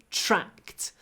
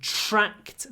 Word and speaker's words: tracked: track the deer remember after C the D is pronounced t tra track tracked they tracked the deer look at